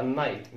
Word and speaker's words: knight: A night مش كنايت.